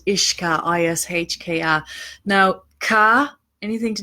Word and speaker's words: uisce: And in Ireland, it's spelled differently. It's UISCE and it's ISHKA. Okay, that's how we say that.